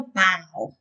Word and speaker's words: bao: like meat and vegetables it's pronounced like a bow yeah and there's actually